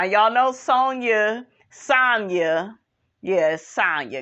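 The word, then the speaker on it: Sanya: know sonya sonya yes sonya because it rhymes with tanya she gets to tell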